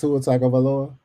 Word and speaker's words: Tagaloa: That's how you say his name. Tagaloa.